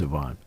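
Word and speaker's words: Yvan: It was because it's spelled Y-V-A-N. So how do you pronounce it? Is it Ivan? Is it right? Well, with him it's Ivan.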